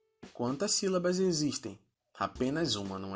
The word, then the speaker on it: sílaba: porque em sua divisão produzimos 3 sons: si, lá, ba. Percebam que ela possui um acento na letra I, que torna o som mais forte. Sílaba.